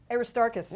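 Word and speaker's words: Aristarchus: So this is the 10th century CE Greek copy of and I may butcher the name Aristoark Aristarus. Aristarus you got it perfectly.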